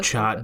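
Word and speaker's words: chaat: a little bit more as well uh it's pronounced chat but it's uh mostly spelled Chad and uh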